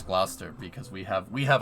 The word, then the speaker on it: Gloucester: what's going on there you don't pronounce the U in Gloucester yeah I know stoves